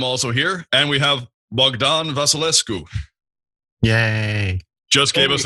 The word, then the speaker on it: Bogdan: great to have you you have to pronounce it in the true Romanian way which is bdan did I did I